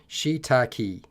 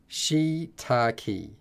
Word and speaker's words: shiitake: they have gone completely nuts as always it's pronounced shiitake shiitake far out okay fine I will break it